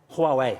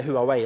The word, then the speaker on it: Huawei: of your company huawei huawei yes yeah a lot of norwegians say who are we is that okay yeah